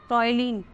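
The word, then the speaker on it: ptyalin: यहाँ पर P silent रहता है, इसीलिए इसको ऐसे लिखते हैं टॉइलिन।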